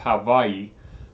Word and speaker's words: Hawaii: This intense heat that we're having, Hawaii is actually it's pronounced Hawaii, is actually no different than any other part of the United States.